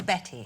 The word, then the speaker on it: Bette: but reading her biography, her name was spelt with a Y, and just to be a little bit different, when she was a teenager, she changed it to an E, but it was always Betty.